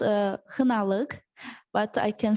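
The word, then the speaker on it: Xinaliq: this is very specific place it's called uh hanaleg but i can spell it for you if you want uh it's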